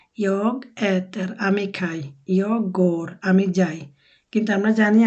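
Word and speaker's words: går: বাট আপাতত এভাবে শিখে নেন, এটা উচ্চারণ হবে গোর, আর এটা হবে ইয়ার।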